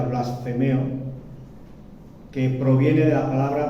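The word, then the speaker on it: βλασφημέω: Se traduce de la palabra griega, si no me equivoco, se pronuncia blasfemeo, que proviene de la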